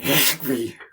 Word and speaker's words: Khikhvi: For ease, I say something like Khikhvi, but it's more like Khikhvi. Okay, well, let's say Qvevri. It's sort of, you sort of like clear your throat and then say it.